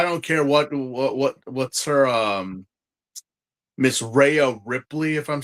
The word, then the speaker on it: Rhea Ripley: I mean, I don't care what's her Miss Rhea Ripley, if I'm saying it right. Rhea Ripley.